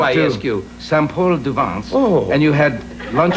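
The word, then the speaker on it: Saint-Paul-de-Vence: We went up to Paul Saint-Gervain. Is that how you say it? No, it's called Saint-Paul-du-Vence.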